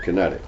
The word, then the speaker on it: QinetiQ: patent it's a corporation by the name of kinetic it's spelled q i n TI IQ um now kinetic sits